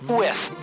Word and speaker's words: Ouest: In French, we don't spell W-E-S-T. It is O-U-E-S-T. O-U-S-T. It is pronounced Ouest.